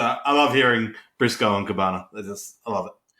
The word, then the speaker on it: Cabana: So I love hearing Briscoe and Cabana. I love it. It's Cabana, man. We got another one. Another weird big boy pronunciation.